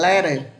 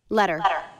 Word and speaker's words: letter: Trong tiếng Anh ấy, khi chữ tờ không nằm dưới dấu trọng âm thì người Mỹ sẽ có xu hướng phát âm thành âm giống âm đờ. Ví dụ như chữ này. Đây. Người Mỹ thì sẽ có xu hướng phát âm âm này thành letter. Ngân thử phát âm như thế nào? Letter. Letter. Đó. Nhưng người Anh thì âm tờ này vẫn âm tờ.